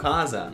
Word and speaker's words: CASA: Oh, Kaza. Yeah. Yeah. They, That's how they pronounce. That's how everyone pronounces it there.